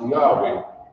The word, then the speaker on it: Yahweh: represented by these four characters it is pronounced Yahweh by the human when he moved out foreign